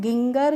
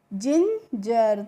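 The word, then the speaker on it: ginger: जैसे हमने लिखा जी आई एन जी ई आर तो इसको हम गिंगर करके नहीं पढ़ते हैं। क्या पढ़ते हैं? जिंजर।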